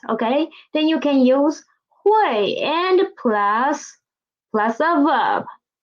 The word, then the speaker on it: 会: as draw first huay this word hui the initial the final oy and the tone is the first tone huawei hui read after